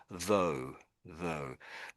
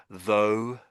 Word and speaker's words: though: So I I pronounce this as though.